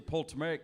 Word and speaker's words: Ptolemaic: A, the Hebrew calendar, B, the Coptic calendar, C, the Ptolemaic calendar, or D, the Julian calendar? Yeah, I know. I can never get that silent P thing right. Yeah. The P's always silent.